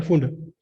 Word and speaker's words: Pfund: PFUND, P silent है, फुंड।